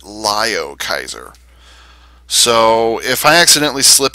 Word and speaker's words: Liokaiser: If you listen to the original Japanese version from Transformers Victory, they pronounce it Lio Kaiser.